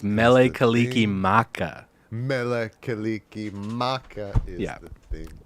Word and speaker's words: Mele Kalikimaka: other's songs so good it's not Mele kalikilak it's Mele Kalikimaka Mele Kalikimaka is the